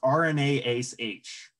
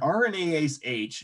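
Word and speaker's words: RNase H: rna ace h so it's pronounced with two a's but there's only ever one a and sometimes they capitalize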